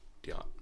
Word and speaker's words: Diotte: yes diat is it a silent t it's it's a french name so it's if you want to be french about it yeah but english it's diot you speak french you